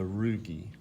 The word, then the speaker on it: rugae: The last structure that I want you to be aware of, these are called the rugae, R-U-G-A-E, right? Remember, in Latin, if it ends in A-E, it's pronounced E, like chordae tendineae, rugae.